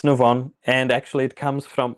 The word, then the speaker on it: Nuvon: Is that how you pronounce it? Yes, it's Nuvon.